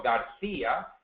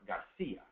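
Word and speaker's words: García: matter in Spain Serio Garcia the CI is pronounced like a th in English but in Latin America it's pronounced Garcia other than that the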